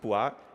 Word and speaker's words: POIS: or dois it's pronounced POIs which is the Italian word for polka-dots our surrogate function is